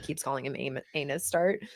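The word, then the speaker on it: ANUSTART: tart over here an oh so it says anus start it says like he's like no it says a new start and she's like she just like keeps calling him anus start it's amazing yeah yeah that was always a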